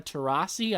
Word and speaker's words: Taurasi: It's Anthony Davis, Klay Thompson, Damian Lillard, Chris Paul, and even a lot of the members of the WNBA, like Diana Taurasi.